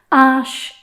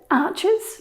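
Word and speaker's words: Arches: sent me the message a few weeks ago ash is the correct pronunciation like many i used to call it archers but i was wrong then i started to call it ashes plural and that was wrong too now i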